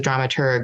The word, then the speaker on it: dramaturg: feel but drama tur with a hard G as the as the